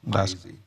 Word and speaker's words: Maeze: Did I pronounce that correctly? Maeze.